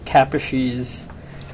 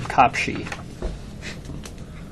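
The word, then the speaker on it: Kaposi: capes well done and even though we all say capes um he pronounced his name copi that hasn't g a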